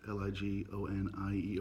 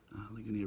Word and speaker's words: Ligonier: I believe it's pronounced Ligonier, PA. Ligonier, PA.